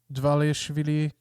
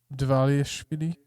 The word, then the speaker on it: Dvalishvili: Pantoja, Dvalishvili versus Jan. How you pronounce that That's name? on the me. Dvalishvili.